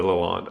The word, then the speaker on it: Lalande: Lalande.